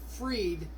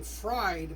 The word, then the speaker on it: Fried: it'll be him against Fred who uh you want to pronounce his name fried but I think it's Fred so the Cubs will